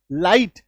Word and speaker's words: light: देखो IGH, ये अगर आपको किसी शब्द में दिखाई दे IGH, तो इसका उच्चारण क्या होगा? आई, आकार की मात्रा के साथ ई। ठीक है, आ ई, तो सिर्फ आपको जो शब्द है उसके उच्चारण में आकार की मात्रा और ई दिखेगा। LIGHT, है ना? और ये शब्द के बीच में आएगा। लाइट, आकार की मात्रा ई, लाइट।